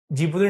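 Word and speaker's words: Djibouti: Somalia, जिबूती, जिबूती D silent है, Ethiopia और Eritrea.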